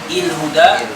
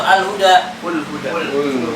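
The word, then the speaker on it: الهدى: Tapi kalau kita ingin membaca sebelum ala, setelah ala, jadi apa? Bacanya il huda, ul huda atau al huda. Ah, lagi itu kan? Tuh il huda. Al huda. Kenapa al huda?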